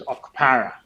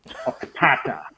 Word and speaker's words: Okpara: to pronounce it as Okpara, Okpata.